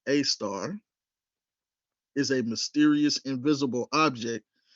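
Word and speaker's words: Sagittarius A*: However, one star, Sagittarius A2, pronounced A star, is a mysterious invisible object that occupies a strangely unique position, the exact center of our galaxy.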